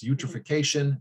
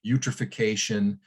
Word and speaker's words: eutrophication: benthic microalgae and so they call this process eutrophication rhymes with nutrification and sort of the